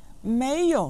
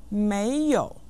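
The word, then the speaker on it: 没有: to have is Mayo mayo means to not have and is pronounced with the second and the third tones listen Mayo Mayo Mayo repeat after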